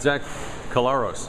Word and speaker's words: Collaros: on right now I'd zach collaros i pronounced it right yes a lot of guys mess it up Memphis you're looking forward